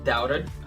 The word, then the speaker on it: doubt: She doubted herself. Ela duvidou dela mesma se esse era um plano bom ou não. Então, doubt tem o B mudo.